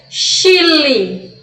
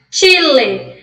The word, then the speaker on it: Chile: Se eu fosse ler essa palavra aqui em português, eu ia ler Chile. O Chile. Só que aqui a gente vai pronunciar da forma correta. Chile.